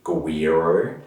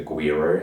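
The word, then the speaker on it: güiro: the world um the first ones the tricky pronunciation is guiro so i've got you to say that lots of times in class so the guiro so the guiro sometimes looks like looks like a fish it's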